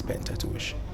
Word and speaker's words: Pentateuch: i researched it and actually they changed the pronunciation from pentateuch to pentateuch but we decided to go with the original pronunciation which is painted tuition yeah if we could